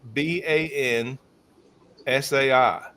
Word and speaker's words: banzai: When they yelled bonsai, they yelled banan s ai. When we put a tree in a pot, we do b o n s ai.